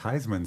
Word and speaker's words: Huisman: know it was pronounced Heisman so that's kind of fun yes yes Heisman like the trophy like the trophy yeah